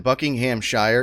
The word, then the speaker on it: Buckinghamshire: towers in buckinghamshire england it's crazy how like over there they turn buckingham shire into just like three syllables buckinghamshire they really just they slide right through it it's really impressive